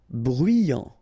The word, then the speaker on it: bruyant: Bruyant, final T not pronounced, so you get bruyant, okay?